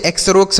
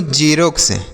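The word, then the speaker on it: Xerox: तो क्या हम इसे एक्स रोक्स से पढ़ेंगे? ऐसे कुछ पड़ेंगे? नहीं पढ़ने पर ध्यान दीजिएगा उसके बाद फिर मीनिंग पर ध्यान दीजिएगा। ठीक है बच्चों? तो देखिए एक्स ई आर ओ एक्स तो इसे हम पढ़ते हैं बच्चों झेरॉक्स।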